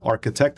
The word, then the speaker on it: Arqitect: This one's called The Arqitect, but Arqitect is spelled with a QI instead of a CH. So it's it's a play on the Qi, which underlines ARQITECT.